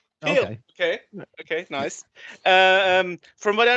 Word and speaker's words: P3OL: And from we call it Peel. Peel.